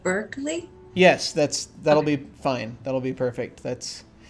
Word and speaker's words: Berkeley: Berkeley?